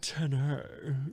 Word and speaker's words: Tenet: Tenet, I think. Isn't that how it's pronounced? Tenet. Tenet. Yes, that's right, Tony.